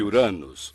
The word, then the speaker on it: Uranus: Eu digo Uranus. Acho que as pessoas têm vergonha de dizer de outra forma. Uranus, isso. Eu chamo o planeta de Uranus, que provavelmente é bem mais próximo da pronúncia original do nome do deus que lhe deu este nome.